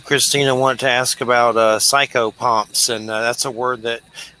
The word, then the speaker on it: psychopomp: What can you tell us about that, psychopomps?